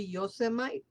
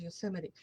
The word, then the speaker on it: Yosemite: I obviously English is a second language, so I read it the way it's written, which will be Yosemite, but it's pronounced Yosemite.